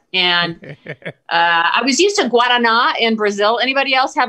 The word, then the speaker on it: Guaraná: Guaraná is how you say it in Brazil. Is how you say it correctly.